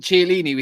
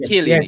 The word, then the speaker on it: Chiellini: Yeah, is that how you pronounce it? Chiellini. Yeah, CH is Kia.